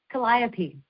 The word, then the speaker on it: Calliope: And she becomes, she wants to be called by her full name, which is, how do you pronounce it? Calliope? Calliope.